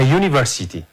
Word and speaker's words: university: Look at this word, students, a university. This letter is begin by U, which is vowel. But when you can pronounce this word, it can be read as Y sounds, not U sounds.